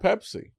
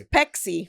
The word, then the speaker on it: Pepsi: It's Pepsi. It's Pepsi. Oh, but we call it Py. Oh, yeah. Yeah. But we don't pronounce it correctly. It was pexy with for for us.